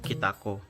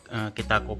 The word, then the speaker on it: Kytaco: Kitako KTC sekarang tuh juga namanya KTC Kitako ya, cuma pakai Y. Jadi bacanya apa ya, Kitako juga gitu.